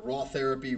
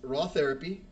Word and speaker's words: RawTherapee: There is Raw Therapy, and it's spelled RAWTHERAPEE, like take a pee.